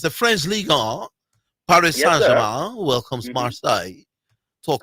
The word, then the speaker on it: Ligue 1: All right, in the French Ligue 1, so you pronounce it Ligue 1? Ligue 1, yes.